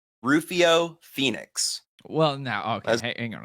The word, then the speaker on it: Pheonix: and everything but it's actually pronounced it's spelled p h e o n iix so if you could